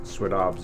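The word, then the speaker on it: swədəbš: of the salmon that's that's what Swinomish means swadabs is how you say it in our language and that means we are the people of the salmon so you know salmon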